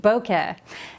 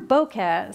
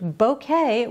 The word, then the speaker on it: bokeh: And the way to pronounce it correctly is bo as in bow tie and ke as in rhymes with meh.